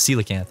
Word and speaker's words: coelacanth: Google oh we did yeah and it was coelacanth okay see you looking oh that's I don't